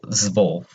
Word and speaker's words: zwölf: It's zwölf. Very hard to say. And it's the exact same thing as the U. If you can visualize this, kind of think of it as a O and an E.